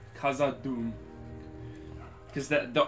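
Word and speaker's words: Khazad-dûm: i made in the last video i did pronounce uh in the intro the bridge of kaza doom wrong kaza doom because that the o how the you has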